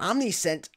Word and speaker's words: Omniscient: Omniscient or Omniscient. I've been told it's pronounced Omniscient, but I would say Omniscient. Anyways, I'm going to keep saying Omniscient because that's how I was told to pronounce it at 1041.